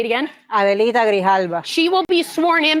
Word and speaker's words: Adelita Grijalva: Adelita Grijalva.